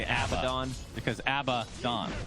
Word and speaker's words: Abaddon: the opposite yeah okay the correct pronunciation is a bad and i've had this conversation